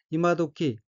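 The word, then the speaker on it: 今時: 첫째 줄 두 번째 어휘는 한자가 한국어로 금시이고 이재금, 때시자로 되어 있고 일본어로는 이마도키 라고 읽으며 이마도끼는 요즘, 요새, 최근, 이제 와서, 지금쯤이란 뜻의 명사입니다.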